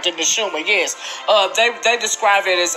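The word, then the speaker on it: נשמה: The Neshuma, yes.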